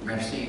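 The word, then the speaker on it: MER-C: Mercy itu nama C gitu ya, bacanya Mercy.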